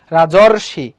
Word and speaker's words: রাজর্ষি: অর রাজর, রাজর অর, উচ্চারণ করার সময় কি হচ্ছে অর হচ্ছে, রাজর্ষি, রাজর্ষি। ওটা এখানে বলছে দেখো অর সঙ্গে যদি রিকার হয় সেটা কি হয়ে যায় অর হয়ে যায়, রাজর্ষি।